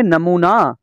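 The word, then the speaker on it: knee: का प साइलेंट है नो नो का मतलब है जानना नो का के साइलेंट है नी नी का मतलब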